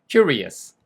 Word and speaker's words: curious: 그냥 큐리스 이렇게 발음하시면 돼요. 보세요. Curious 되셨죠?